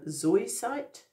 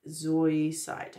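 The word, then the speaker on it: zoisite: it and it says meditate with Ruby zoinsight Zoe site to awaken the heart's yearning Ruby Zoe site it's spelled z-o-i-s-i-t-e meditate with that to awaken the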